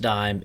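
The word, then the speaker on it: disme: And yes, it is pronounced dime.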